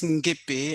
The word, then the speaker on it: Nguepe: My name is Nguepe, so you pronounce it very well.